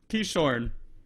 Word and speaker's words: Keishorne: special guest uh i'm nervous to say your name wrong i want you to say let's let's see let's come in with confidence he shorn that's it that was my guess all right